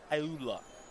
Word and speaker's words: Ayula: I believe that's pronounced Ayula.